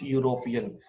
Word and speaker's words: European: आई met dash यूरोपियन, यूरोपियन की spelling है EUROPEAN, यूरोपियन, लेकिन इसकी साउंड, ये स्टार्ट तो ई से हो रहा है लेकिन इसकी साउंड है या से, तो या की साउंड है कॉन्सोनेंट साउंड, इसलिए यहाँ पर भी इससे पहले ए लगेगा, ओके.